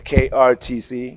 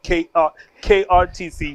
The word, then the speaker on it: KrTC: So when you shorten it, it's just KrTC, which is KrTC. You know what I mean? The R is silent.